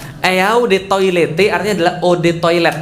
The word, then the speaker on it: eau de toilette: mau sombong banget eau de toilette artinya adalah Ode toilet bacanya e-awb atau odd saatnya air toilet ya toilet